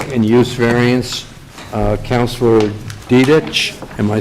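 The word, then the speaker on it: Diduch: use variants uh councilor dedic am I saying that right that's okay firm is called Katie law so for the record my last name is spelled d-i-d-u-c-h are pronounced to do but you can call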